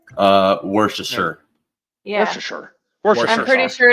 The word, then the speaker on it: Worcestershire: But it's definitely part of it's not being pronounced. Yeah, you gotta just kind of skip the middle.